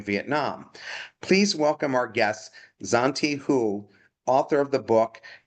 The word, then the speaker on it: Zontee: Please welcome our guest, Zanti Hu, author of the book Datadriven Personalization: How to Use Consumer Insights to Generate Customer Loyalty. Did I pronounce that right? Zante. Zante.